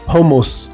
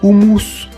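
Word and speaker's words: houmous: Bon, si vous ne savez pas prononcer le alors dites homos s'il vous plaît, mais surtout pas humous.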